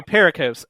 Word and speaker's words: pericopes: So pericopes.